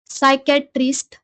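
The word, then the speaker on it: psychiatrist: सायकॅट्रिस्ट म्हणजे मानसोपचार तज्ञ वर आपण एक शब्द पाहिला होता त्याचा की स्पेलिंग आणि उच्चार वेगवेगळा होता त्याचप्रमाणे हा पण शब्द आहे इंटिमेटली आय एन टी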